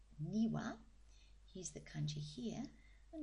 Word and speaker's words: 庭: the Ki for garden there it is it's pronounced niwa here's the Kani here and let's see if